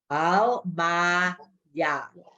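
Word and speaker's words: עלמיא: Al, ma, ya.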